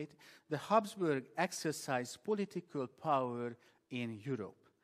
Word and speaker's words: Habsburg: the emperors for more than 600 years the habsburg that's how you say it the habsburg exercise political power in europe when emperor francis